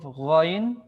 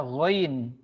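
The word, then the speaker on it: غين: ketika tidak berharakat maka ada beberapa huruf yang dibaca berbeda misalkan huruf ghoin ya Bukan dibaca huruf gho ketika tidak berharakat tapi dibaca ghoin Al gainu Kalau ditulis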